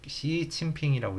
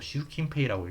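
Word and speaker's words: 習近平: 움직임도 이유가 말하다니까 이해할 수 있다, 말할 수 있다 이런 뜻이고 조세 증세 낙하대 시진핑이라고 읽기도 하고 시우킨페이라고 읽기도 하고요.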